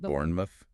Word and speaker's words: Bournemouth: The sound is consistently mouth. Like in Bournemouth. B O R N E M O T H. Pronounced Bournemouth.